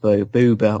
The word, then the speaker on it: Boba Fett: the Sarlacc pit with Booba or Boba Fett, whichever way you want to pronounce it.